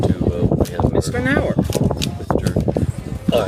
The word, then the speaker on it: Knauer: Knauer. Mr. All right. The Philadelphia Knauers don't pronounce the K, and the country Knauers do.